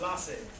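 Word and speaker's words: laissez: it okay hands off what's that word the fancy friends it's pronounced lasse should not be interfering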